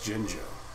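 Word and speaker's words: Jinjo: I've heard uh all sorts of different stuff, but I've always growing up called it Gingjo. So, you know, right now we're just gonna leave it at Gingjo. It's Jingjo.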